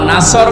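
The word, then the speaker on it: نصر: নুন সুয়াদ র, নাসর মানে সাহায্য, আর নুন সিন র, নাসর মানে ঈগল পাখি। এই জন্য তেলাওয়াত যখন করবেন সুয়াদ উচ্চারণটা মকবুল করা লাগে।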